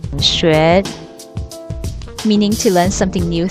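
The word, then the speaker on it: 学: in Chinese the word learn is pronounced sh meaning to learn something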